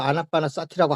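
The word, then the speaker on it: ānāpānasati: 아나파나사티라고 하면 되지. 원래 그게 원래 본 발음인데.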